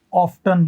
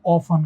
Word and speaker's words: often: जैसे OFTEN, इस OFTEN के ना दो प्रोनाउंसिएशन है, दो। कौन कौन से हैं? एक तो ना इसको हम लोग ऑफ्टन कहते हैं, ऑफ्टन मतलब इस टी का साउंड आता है, और एक में इसको ऑफन कहते हैं।